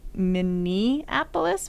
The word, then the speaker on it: Minneapolis: we were in Minneapolis which I believe it is an eapolis not many Annapolis but I can't get out of my head that it is Minneapolis because it rhymes with Indianapolis because of the Twin Cities sure think of it as Annapolis but a mini one Minneapolis Minnesota it's just